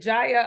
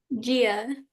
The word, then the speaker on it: Gia: Quinn is strong, is it Jaya? I want to make sure I say it right. Gia. Gia, that's right, Gia.